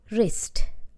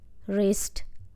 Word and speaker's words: wrist: month 16 my left wrist remember W is silent r i s wrist like this you need to say the word w is silent rest hurts since last year my left wrist hurts since last year